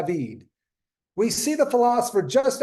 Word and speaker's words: David: the vanishing point in David's sketch for his painting I mean sorry David gotta make sure I pronounced that in the French way now notice where it